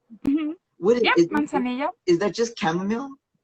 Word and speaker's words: manzanilla: Like, manzanilla. Is that how you say it? Hmm. What Yep, is it? manzanilla.